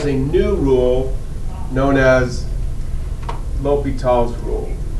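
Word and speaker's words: L'Hôpital: I can't even pronounce that. You did great. Do it again. L'Hopital. Perfect. L'Hopital.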